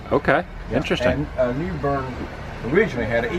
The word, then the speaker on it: New Bern: So you pronounce it New Bern, not New Bern.